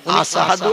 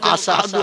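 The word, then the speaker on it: أشهد: আশহাদু শিন, এই অক্ষরটা উচ্চারণ করতে পারতেন না, বলতেন আশহাদু আল্লা ইলাহা ইল্লাল্লাহ, আশহাদু আন্না মুহাম্মাদার রাসূলুল্লাহ। এই আশহাদু শব্দটা শিন অক্ষর দিয়ে উচ্চারণ করতে হয়।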